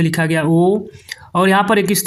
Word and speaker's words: ओम: है तो यानी कि ओम का उच्चारण स्थान जैसे आजकल जैसे ओम डायरेक्ट बोला जाता है तो ओम ऐसे नहीं होता है यहां पर थोड़ा समय लिया जाता है ओम इस तरह से तो यह जो